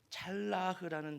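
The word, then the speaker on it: צלח: 히브리 말에는 두 단어입니다.이 하나의 단어는 찰라흐라는 단어로 하나님의 섭리 가운데 하나님의 인도하심을 받을 때 나타나는 형통을 이야기할 때 찰라흐라는 형 단어를 씁니다. 또 다른 하나는 샬라흐라 비슷하죠. 발음이 찰라우와 샬라우입니다.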